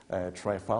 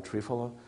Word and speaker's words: triphala: recycling of microbial toxins, triphala or trifala, depending on your pronunciation, is a major motility agent which we're using a lot to move microbial toxins out.